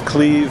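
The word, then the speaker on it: Cleve: pretty cool what's your name my name is Cle Jones it's spelled c l e v e Jones and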